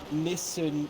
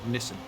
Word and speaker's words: Nissan: It's a Nissan, yes. Is that the correct pronunciation? Nissan. Whatever country is says it differently.